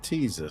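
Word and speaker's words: Teasa: Now arriving, Tisa Spaceport. Please watch your steps. Teaser. Parking the train. It's Teaser Spaceport. There you go. That's how you pronounce it, because that's what the computer says.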